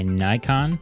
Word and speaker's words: Nikon: red being acquired by Nikon Nikon Nikon is actually how it's said theoretically anyway uh cybertruck